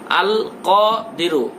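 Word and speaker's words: القادر: আল কাদিরু, আল কাদিরু এটা বললে হবে না, আল কাদিরু, কাদিরু, ক গলার মধ্য থেকে, আল কাদিরু।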